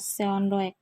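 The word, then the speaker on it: Seondeok: Sunduk ya bacanya, atau bacanya biasa Seondoek.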